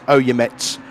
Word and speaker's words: Oyemets: Jones did a 149, and Uyemets did a 149.3. So you know, slowly. Yeah. I've checked up with the pronunciation, so it's Oyemets is the pronunciation.